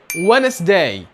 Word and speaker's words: Wednesday: لا ينطق حرف الدي لو جاء بعده حرف الان، وده مش في كل الحالات، في حالات معينة زي كلمة Wednesday.